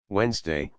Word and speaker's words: Wednesday: the adventures he had Wednesday which was once wensday is named after him that is why there is a letter D in this word although we don't pronounce it after Wen Thor was